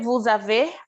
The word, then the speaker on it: vous avez: Como que a gente vai pronunciar esse vous avez, pessoal? Literalmente, você vai falar isso aqui. Vous avez.